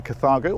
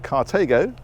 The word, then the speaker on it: Carthago: This rather smart piece of kit is a Carthago, or Carthago, depending on how you pronounce it, Chic E-Line 164 XL QB.